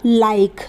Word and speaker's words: like: के को हम क लिखते हैं तो क लिख देंगे, और ई का इस्तेमाल नहीं होगा क्योंकि ई आखिर में है, ई साइलेंट रहेगा। बन जाएगा लाइक, ल पे आ की